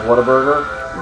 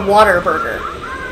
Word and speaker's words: Whataburger: the correct pronunciation of Whataburger? What a burger. Is it, because I think it's Whataburger. It's not Waterburger. That's how it doesn't have the word water Doesn't in everybody it.